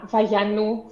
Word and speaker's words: Vayanos: a greek pronunciation uh the actual pronunciation of my name in greek is for my first name uh vallanu for my surname ah so so the